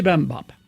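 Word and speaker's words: Bibimbap: Bim Bam Bop, I think is how you say. Bibam Bop.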